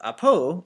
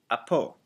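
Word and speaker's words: ἀπὸ: And it looks like the word grave, but we pronounce it grave, and it means that it's going in a downward inflection. And so it's, instead of apo, it's apo, coming downward like that.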